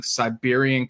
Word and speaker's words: Cyberian: But on Monday, October 20th at noon Pacific, we'll be reviewing Siberian Katru. That's spelled Cyberian.